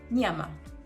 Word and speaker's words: nyama: Nya, which is a very similar sound to sort of slimy sound, which is spelled Ny. For example, nyama, which means meat.